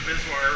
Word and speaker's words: VSWR: Let me pull up the web page and look at the Bizwire reading. That strange word I just used is spelled VSWR, which means voltage standing wave ratio.